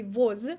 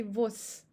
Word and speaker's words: воз: Here we have devocalization of z in the end of the word. We don't say voz, we say vos.